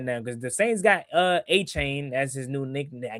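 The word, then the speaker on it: Etienne: Apparently, we've been pronouncing it wrong. Like what? Yeah, he said his name is. Yeah, his name is Travis A-Chain apparently.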